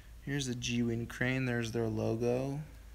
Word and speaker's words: Zhiyun: Here's the Zhiyun crane.